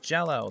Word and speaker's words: Gello: It's pronounced Jello. That's stupid. I'm gonna continue to pronounce it Gello.